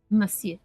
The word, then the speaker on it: Monsieur: I always want to pronounce the N in that word, but you don't. Monsieur.